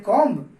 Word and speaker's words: comb: COMB, जिसको हम लोग बोलते हैं कॉम्ब। इसमें भी बी साइलेंट होता है, तो आपको इसे बोलना होता है कॉम्ब ना कि कॉम्ब।